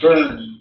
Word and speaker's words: Bon: It's pronounced Burn, B-O-N, but it's pronounced Burn tradition.